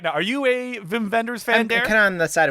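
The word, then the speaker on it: Wim Wenders: time to talk about Mr Vim vendors that's how you say his name right yeah I think so I I think that we're not just being stereotypical or or doing an offensive accent doing that I think that is how you say it I want to say whim Wenders but I know that's not how you say his name like it it's not wiwin so I mean we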